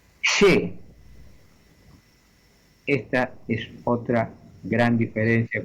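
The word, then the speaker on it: xe: La letra que en castellano se llama X, en galego se llama she. Y se escribe con la propia she, que es la X, repito, y una E.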